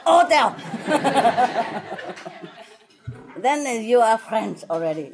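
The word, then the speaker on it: hôtel: And if it's an age, you just don't say age. You know, you don't say hotel. You cut the ha ha ha. You cut the ha away. You say hotel.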